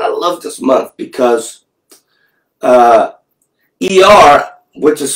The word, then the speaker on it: Iyar: But the month of Iyar, right now, we're actually in the Hebrew month of Iyar, and soon we're going to switch to Sivan.